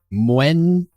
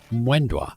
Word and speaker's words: Moendwa: It's only 2 syllables. Moendwa. Moendwa.